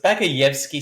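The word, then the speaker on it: Багаевский: You got to deepen your voice when you do the Russian word. So, Bagayevsky. It's Bagayevsky. There you go. Sounds very Russian. It's the Bagayevsky district of Rostov.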